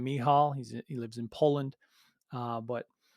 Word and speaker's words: Michal: I believe he pronounces his name Michal.